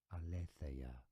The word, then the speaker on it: Aletheia: For reference, in Greek, it is said as Aletheia.